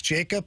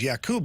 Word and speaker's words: Jakub: I know talking to him last year, he did say that everybody calls him Jacob. He likes Jacob, but, the real pronunciation is Jakub, but nobody calls him that.